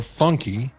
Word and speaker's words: Funke: And we all heard that Bethany Funk, or Funky, which I'm told is pronounced Funk.